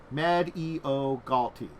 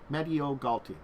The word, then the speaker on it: Mediogalti: medog gty Island in a nutshell uh um medo GTI medo GTI medo GTI I've been saying it correctly okay cool they have a pronounce the thing for that one at least